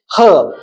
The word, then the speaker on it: herb: In British English, it is herb. So this is pronounced with H sound.